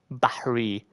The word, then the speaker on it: Bahri: It's Bahri. If you have an accent as a Middle Eastern, you would mention it or pronounce it as Bahri. But Bari is like it would overall seem like reasonable.